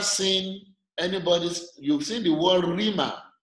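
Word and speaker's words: Rhema: Now, Rima is spelled R-H-E-M-A. Okay. Yes, sir. The cause of the rough breathing mark on top of row, that is where the H is coming from.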